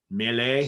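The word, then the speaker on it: Meille: I mean, I don't know, maybe from Italy they might pronounce it a little differently, but here they say Mealy, so I don't know. Mealy, I don't know.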